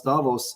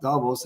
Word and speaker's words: Davos: I found out that the proper way to pronounce Davos is not Davos it's Davos and uh and I